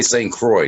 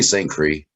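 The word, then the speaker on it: St. Croix: we're very excited and wait and we say St Croy did you say St Cree I said St Croy you are correct I'm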